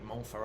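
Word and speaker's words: Montferrat: conrad de montfort um it's m-o-n-t f-e-r-r-a-t's it might be mole for all remember in french the consonants don't matter that's right conrad is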